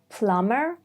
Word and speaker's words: plumber: 1, when there is MB, like in plumber, bomb, chrome.